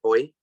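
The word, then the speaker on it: Hoai: The H-O-A-I is pronounced like Hoi, chip ahoy cookie, H-O-Y.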